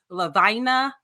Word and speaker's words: Lavina: He's like, I was with Lavina rhymes with vagina.